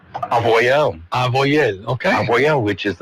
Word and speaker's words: Avoyelles: So how do you say Avoyelles in French? Avoyelles.